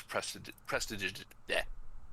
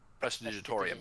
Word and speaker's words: prestidigitation: As they're setting them up, I'm gonna use prestidigitation. That spell, that one cantrip that I can never pronounce. Prestidigitorium.